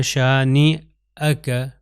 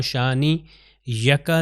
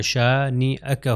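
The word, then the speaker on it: شانئك: اوپر حمزہ آتا ہے۔ تو اس کو کیا تلفظ ہوگا؟ شانی اکا۔ اگر میں کہوں شانی یکا تو غلط ہو جائے گا، شانی اکا هو الابتر، ٹھیک ہے۔ اور یہاں پر ایک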